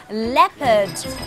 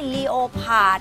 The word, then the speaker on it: leopard: ย น ะ ค ะ ยั ง มี leopard leopard อั น เ นี้ ย อ อ ก เ สี ย ง ต้ อ ง ร ะ วั ง น ะ ค ะ ไ ม่ ใ ช่ leopard น ะ ค ะ leopard L E O